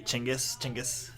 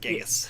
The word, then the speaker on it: Chinggis: It's actually Chinggis. It's not Genghis.